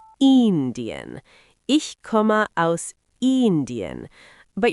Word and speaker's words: Indien: In German, the I is usually a bit longer, so it's more like Indian.